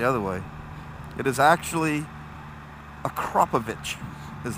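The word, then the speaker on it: Akrapovič: That Akrapovic is a little bit louder.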